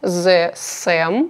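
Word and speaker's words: The Saem: него как раз начну это бренд The Sam по-моему правильно читается меня уже раз 100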